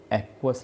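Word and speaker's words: aqueous: इसको एक्वस solution pronounce करेंगे हम लोग।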